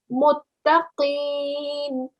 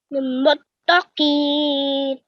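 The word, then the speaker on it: متقين: back of your tongue and you're touching the roof of your mouth. So let's try that together. Muttaqeen. Muttaqeen. Much better, mashallah. Well done. So this time I can hear the Qaf sound being, pronounced well.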